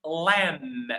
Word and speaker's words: lamb: But the most important thing aeline aeling and someone the word this word is pronounced lamb. We don't pronounce the B. Okay? So the B is silent.